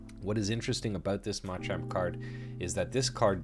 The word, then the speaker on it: Machamp: Now, there is a few things that I want to talk about with this Ma Chomp card or Machamp.